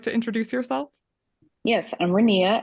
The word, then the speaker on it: Renea: introduce yourself yes I'm renia it rhymes with Korea I'm from Lexington Kentucky